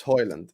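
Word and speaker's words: Højlund: It's Hoyland. That's it. You're gonna have to deal with Hoylund. He's told everyone how to say his name.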